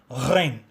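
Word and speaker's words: غين: கைன் உச்சரிப்பதற்கு பிளிர்த்தல் ஓசையுடன் சேர்த்து கா என்ற ஓசையை சேர்க்க வேண்டும். அதாவது ஜி என்ற ஆங்கில எழுத்துடைய ஓசையை சேர்த்து கூற வேண்டும். கைன் கைன்.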